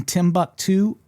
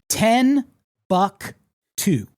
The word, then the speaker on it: Timbuktu: She, until I corrected her at one point in her 40s, for her entire life had been pronouncing Timbuktu as 10 buck 2. The number 10, the word buck, number 2.